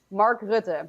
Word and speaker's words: Mark Rutte: Rutte? How do you pronounce the name of the leader of the Netherlands? He's a serious member of the World Economic Forum too. What's his name? Mark Rutte.